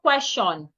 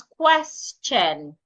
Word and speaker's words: question: When you have letter S before T I O N. Sometimes the T and the I there makes the ch sound. question. So it is not question it is question cheat nature.